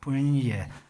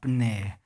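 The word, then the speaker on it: puṇye: So that's where punye we are going to recite is punye. It's not like a punne.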